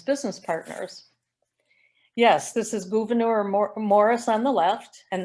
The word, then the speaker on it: Gouverneur: on the left and i'm not mispronouncing his name his mother was french and even though we have governor new york his mother had his it wanted his name pronounced gouverneur so he was a